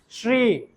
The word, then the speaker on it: শ্রী: তার মানে এটার উচ্চারণটা কি হবে? শ্রী। শ্রী উচ্চারণটা করতে পারলে আপনাদের তালব্য স্বর উচ্চারণ সঠিক হবে, শ্রী, শ্রী, শ্রী, ঠিক আছে?